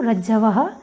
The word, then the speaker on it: रज्ज्वै: रज्जवे नहीं बोलना है, रज्जवे बोलना है, क्योंकि ज के बाद अ है और रज्जवै में ज के बाद अ नहीं है, वकार आया हुआ है, अतः उच्चारण होगा रज्जवै।